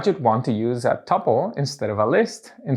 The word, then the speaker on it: tuple: a tuple also pronounced tuple can be defined as